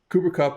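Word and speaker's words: Cooper Kupp: tweeted this earlier cooper cup and college uh pronounce it properly cooper cup and kyle use check play the same position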